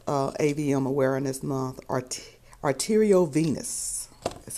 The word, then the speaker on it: arteriovenous: to talk about uh AVM Awareness Month art arterio Venus is how it's pronounced I don't know why I have such a problem pronouncing this word but that is how it's pronounced let me check it arterio Venus arterio Venus arterio Venus that's what it is